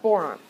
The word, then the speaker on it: boron: Okay, so here we've got boron. Boron rhymes with moron.